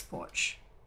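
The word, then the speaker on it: Poarch: checking that out but her last name is spelled p-o-a-r-c-h which is why i'm i think it's porch but um what is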